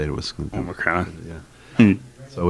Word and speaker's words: Omicron: I wasn't sure how you say it, but when I heard other people say it, it was Omicron.